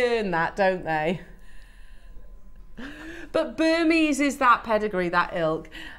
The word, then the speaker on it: Burmese: also promise ourselves that when you're talking about this if you do retail or your gift you say it's burmes yeah absolutely because it